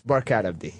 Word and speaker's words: Barkhad Abdi: It's Barkhad Abdi.